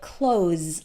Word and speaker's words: clothes: might actually sound like clothes like as enclosed the door put on my clothes take off my clothes the th is there but it's very very short and when you're listening